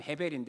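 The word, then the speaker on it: הֶבֶל: 이 발음은 어떻게 하냐? 헛되다는 헤벨인데 어떻게 하냐?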